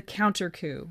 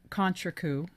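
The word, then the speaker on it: contrecoup: of damage and that's called the counter coup or you can pronounce it Contra coup a severe coup or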